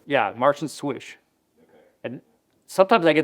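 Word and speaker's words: Slysz: yeah, Martian Swish. Okay. And sometimes I get that name wrong, but the L is silent, so it's Swish, and this is the Martian Swish Bowie.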